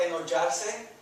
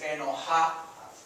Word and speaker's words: enojar: Go back to, instead of enollarse, sometimes you get confused or whatnot. It's enojar, sounds like an H. Enojar, se. And then the se again, right? Enojar se.